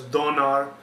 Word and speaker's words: Donar: name was thunar the Germans pronounced it as Donar the Anglo-Saxons pronounce it as thunor the actual pronunciation was